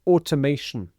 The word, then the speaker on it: automation: And the next word is automation. Automation. So we have the stress here. Automation.